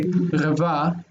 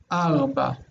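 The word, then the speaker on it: ארבע: It would be hard to say rava, so they say arba.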